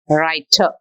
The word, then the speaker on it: writer: R is silent, so that ends with this sound a, writer.